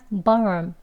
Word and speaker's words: ballroom: 하고 짧게 한다 그랬잖아요 뒤에 오는 알 소리가요 혀뿌리를 많이 당기지 않기 때문에 그냥 barm 하는 것처럼 들려요 근데 우미라고 발음하는 건